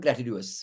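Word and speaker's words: gratuitous: Any charge, ये तुम्हारा ग्रेचुअस हो गया। उसको क्या बोलते हैं बच्चों? ग्रेचुअस। ग्रेचुअस बोलते हैं उसको, ग्रेचुअस बहुत अलग प्रोनाउंसिएशन है, ग्रेटिट्यूअस।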